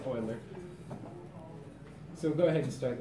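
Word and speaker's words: Euler: in my head because I read it and I see uler and it's not pronounced like that. It's oiler.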